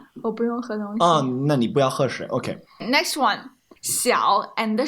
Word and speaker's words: 小: Next one, 小 and 少。 Yeah, so remember the pronunciation difficulties here, or the differences between xi and sh and then ao.